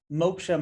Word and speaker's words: moksha: for those who may not know what does moksha mean and how does it relate to what you do well thank you for pronouncing it correctly yeah typically basically it's maksha what is maksha so moksha for us it's really a sanskrit word that